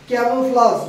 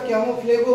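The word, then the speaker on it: camouflage: তারপরে দেখো, ক্যামোফ্লাজ, উচ্চারণটা ক্যামোফ্লেগো বলে, ক্যামোফ্লাজ।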